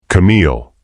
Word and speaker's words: Camille: Camille. Her name on his lips stopped her cold. She'd forgotten how he said it with just a slight emphasis on the second syllable that made it sound like music.